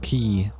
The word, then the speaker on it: quay: But everyone's like, it's pronounced key.